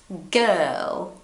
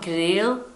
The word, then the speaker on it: girl: And if it's really hard, you remove the R and you say it like this. If you're Brazilian, you can read it. Look here. Girl. Girl. It's not girl. It's not grill. Grill. I don't know. Sometimes I hear very strange things related to this word. It's just girl.